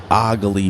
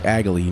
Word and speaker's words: Ogly: the Ogly map, and I found out that's how it's pronounced. It sounds like a pirate saying it. I used to say when I was on there, I would be like, "Oh, it's Agly." No, it's Ogly.